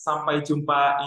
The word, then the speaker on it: Sampai Jumpa: It is Sampai Jumpa Indonesia. The meaning of that word is see you there, Indonesia. Sampai Jumpa, is that how you say it?